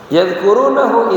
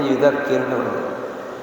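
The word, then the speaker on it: يُذَكِّرُونَهُ: Yadhkurunahu idza nasiya, yudzakirunahu, bacanya yudzakirunahu.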